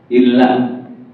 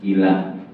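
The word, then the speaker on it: إلا: tulisannya contoh Git Ustaz misalnya illa Nah itu kan ada taswid kalau kita k bertajwid membacanya Ila artinya pun berubah artinya berubah kalunya illa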